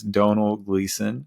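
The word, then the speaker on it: Domhnall Gleeson: look up a YouTube video of how to pronounce his name before uh hopping on and it is Donal gleon is that's how he says it anyways uh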